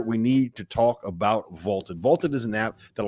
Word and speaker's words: VLTED: So go download the Vaulted app for free. It is spelled VLTED.